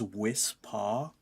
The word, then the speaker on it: Wispaw: Its name is Wispaw, which sounds like somebody weirdly pronouncing whisper.